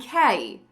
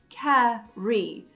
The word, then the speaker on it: carry: We need that R in carry to function as a consonant. Re, carry, carry.